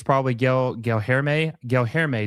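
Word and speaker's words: Guilherme: Gelherme is how you say Gelherme.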